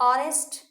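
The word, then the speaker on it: honest: एन ऑनेस्ट मैन, एन एयर, an honour, honour, N honourable man, है ना।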